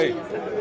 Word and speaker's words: Loe: With a name like Louis? No, it's not Louis, you said it wrong. All right, sorry, how is it pronounced? Loe.